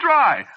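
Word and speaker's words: Drei: Yeah, but of course that ain't the way you spell it, see? What? No, you see, it's a German name.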